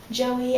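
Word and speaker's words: Joyie: Joey as in kind of like the baby kangaroo, even though it's not spelled the same. It's spelled J O Y I E, not J O E Y.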